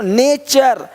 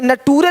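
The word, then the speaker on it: nature: देख पा रहे हैं यदि किसी शब्द के अंत में एस के आगे टी आई ओ एन हो तो टी के आगे यू आर इ आए तो टी का उच्चारण च होता है देखो यहां पे टी का क्या होगा च क्वेश्चन क्वेश्चन अब क्वेश्चन नहीं बोलते क्वेश्चन नहीं क्वेश्चन क्वेश्चन देखो नेचर यहां पे नटूरे नहीं बोलते नटूरे नहीं नेचर है ना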